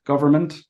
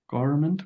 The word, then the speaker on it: government: with instead of vit so visit in government government you said garment maybe you missed the V you know what